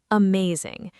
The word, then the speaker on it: amazing: Uh may zing. The stress is on the second part, may.